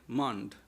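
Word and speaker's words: মণ্ড: Young boy at that time he used to take mandol they called in Bengal they call mando that is the that is the pronunciation mand.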